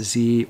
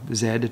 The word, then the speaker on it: Z: is the Canon 7s Z or Zed depending on how you prefer to pronounce that last letter and that was basically